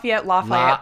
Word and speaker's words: Lafayette: And you grew up in, is it Lafayette, California? Lafayette. People pronounce it different ways.